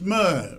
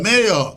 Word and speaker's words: mayor: It said mer because Francophone pronounce it as mer. Mer. Instead of mayor, they said mer.